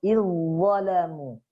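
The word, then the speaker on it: إِذْ ظَلَمُوا: Dalnya sukun, yang kedua berharokat, maka dalnya ini dianggap tidak ada. Jadi langsung izzalamu.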